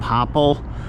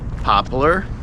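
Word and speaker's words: poplar: I pronounce them popppel, but uh I believe most of the country pronounces it pop popppler.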